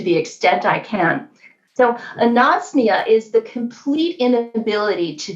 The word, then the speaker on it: anosmia: So my favorite one to want for everyone to understand, it actually has the word nose in it phonetically, is anosmia. So if you could start